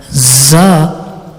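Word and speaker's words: ظ: now the maharaja letter za za is pronounced when the tip of the tongue touches the edge of the lower two front teeth and lightly touches the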